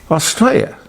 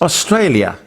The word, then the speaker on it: Australia: But would somebody please tell him that this country, our country, is not called Australia. It's Australia. There's an L in there.